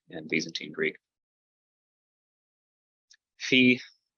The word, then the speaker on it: Phi: Phi, pronounced like a PH as in phone.